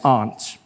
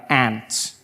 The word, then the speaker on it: aunt: For instance, I pronounce the opposites of uncle as aunt. And I say my aunt. Out here you say my ant. Which to me is an insect.